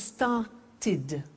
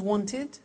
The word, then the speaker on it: started: If a verb ends with a T or a D, then the pronunciation of ed becomes id. And in fact, it's impossible to pronounce it any other way.